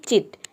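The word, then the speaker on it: chit: तो सी के बाद अगर एच आ जाता है या फिर किसी वर्ड में सी एच अगर एक साथ आ जाता है तो इन दोनों लेटर को मिलाकर हम च प्रोनाउंस करते हैं।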